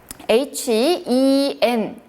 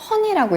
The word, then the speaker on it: hen: H-E-N 같은 경우 영어로 읽으면 사실 hen 이렇게 읽을 수 있잖아요. 하지만 중국어 같은 경우는 헌이라고 읽죠.